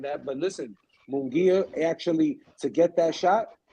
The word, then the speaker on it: Munguia: Munguia, No, he don't want that at all.